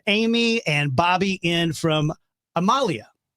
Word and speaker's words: Amalia: So it's the phonetically it looks like it would be Amalia. Yeah. But it's Amalia, right?